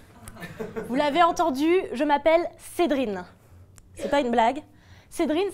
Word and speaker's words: Cédrine: Vous l'avez entendu, je m'appelle Cédrine. C'est pas une blague. Cédrine, ça s'écrit C-E-D-R-I-N-E.